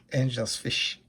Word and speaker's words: Engelsfisch: angelfish but i think it's in dutch or german or something like that anyways and i think it's pronounced angels fish so kind of close but yeah that's the